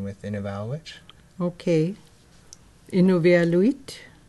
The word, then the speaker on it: Inuvialuit: in eval which okay innovia luit is the way we pronounce it for in our language yeah because i always hear people say in a vallo wit and a vala wit but that for us